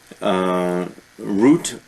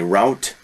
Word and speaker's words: route: Root, or many Americans say route.